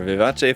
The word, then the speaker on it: Vivace: then we have the Viet VI vivate I'm just going by the Japanese pronunciation there Vivace form and yeah even those